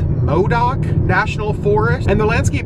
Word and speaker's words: Modoc: I just entered, I think it's pronounced Modoc National Forest, and the landscape has definitely changed.